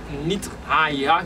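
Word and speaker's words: Nith-Haiah: Et qui ça vertu génie ça qui c'est 25e génie qui c'est Nitre Aïha qui s'écrit N-I-T-H Trésignon H-A-I-A-H lycée conseil intelligence, la force, conseil, intelligence, la force, la sagesse, la piété, la science, l'écoute.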